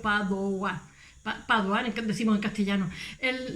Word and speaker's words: Padova: Él nace en un borgo de Vicenza, en Padova se escribe en italiano, que realmente la V de los latinos es una U, Padova.